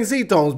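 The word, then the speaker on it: Xtones: glass from sea domes I'm gonna start saying zetones because that's apparently how you pronounce it someone corrected me on that I think it would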